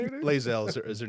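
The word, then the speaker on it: Lae'zel: Lazel is her name, but Bazel because she's Okay, Bae.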